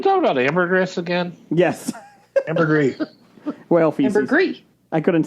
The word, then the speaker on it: ambergris: about ambergris again yes ambergris welfare i couldn't say the word oh the s is not pronounced oh i'm sorry it's